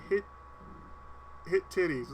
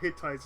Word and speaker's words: Hittites: Hittites, Mr. Connery, not hit titties.